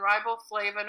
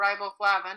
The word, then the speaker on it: riboflavin: Vitamin B, and there are B1, B6, B12, thiamine, and riboflavin or riboflavin, it's pronounced both ways, are the three main B vitamins.